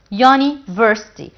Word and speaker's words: university: here the word university university what's a university in gama the beginning letter here is you it's one of the